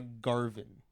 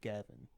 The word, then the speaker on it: Garvin: Oh, it's Sandra Garvin, not Gavin.